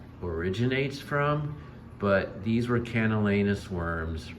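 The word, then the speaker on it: Camallanus: from, but these were Canalenus worms, right? And I pronounce it with the word anus because these hideous parasites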